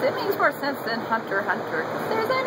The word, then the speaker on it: Hunter x Hunter: course it's Hunter Hunter the x is silent du why didn't I